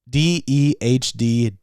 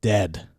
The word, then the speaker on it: Dehd: It is spelled D-E-H-D. Dehd.